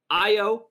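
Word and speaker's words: Ayo: Ricky, your boy, Io. Nope. Yeah, Io. You said it right. Every time my brain has to think. It's an A, but it's pronounced an I.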